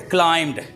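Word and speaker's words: climbed: क्लाइम्ड, ये B silent है। एम भी इकट्ठे आ जाए तो बी साइलेंट होता है।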